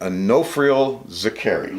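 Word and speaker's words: Onofrio Zicari: we're sitting here today with Onofrio Zakari.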